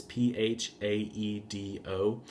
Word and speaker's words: Phaedo: So I primarily used his work Phaedo, I think is how you pronounce it. It's Phaedo.